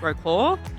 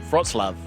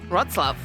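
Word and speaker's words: Wrocław: museum of row claw the first thing that we learned was that it's not actually pronounced raw claw frots love rot's love there you go first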